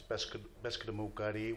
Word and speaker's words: Passamaquoddy: The Passamaquoddy tribe, in my language, it's Passamaquoddy, which is pronounced, that's the way it's pronounced in my language, and it means people who spear pollock.